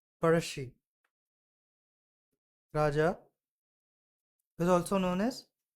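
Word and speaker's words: Pazhassi: It is pronounced as parashi.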